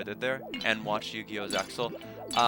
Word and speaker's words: Zexal: Zexal. Or Zale. I don't think it has necessarily a proper canonical pronunciation. I think most people say Zale, but Zexal's fine.